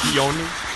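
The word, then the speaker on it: Pion: But the honest truth is why I used that joke is because the 2S7 peon is pronounced peon actually in English, and it refers to the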